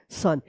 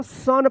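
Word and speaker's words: son: ये रूल्स के विरुद्ध है और ये ओ का अ उच्चारण होगा।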